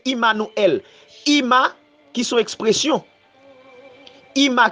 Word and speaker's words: Immanuel: Emmanuel, alors moun yo prononce l'Emmanuel, mais en hébreu c'est Immanuel.